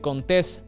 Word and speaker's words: Contés: Mi nombre es Contés, con acento en la E.